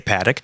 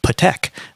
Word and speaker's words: Patek: were talking about Patek, when I said Patek, people went nuts. They're like, you can't say Patek. It's Patek.